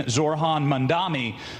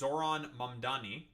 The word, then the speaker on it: Zohran Mamdani: Your beloved New York City may well be led by a communist soon, Zorhan Mandami, who in it's Zoron Mandani. Learn how to say it.